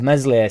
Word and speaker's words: Meslier: not a defense of Mesley silent s i don't can nobody